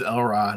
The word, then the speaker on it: Elrod: Um My name's Elrod, accent on the L.